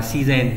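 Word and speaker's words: 自然: nhiên sẽ đọc là si gen đúng không nhỉ? Cái này các bạn nhớ theo từ vựng thôi là các bạn có thể nhớ được. Tự nhiên phải đọc là si gen, đáp án 2.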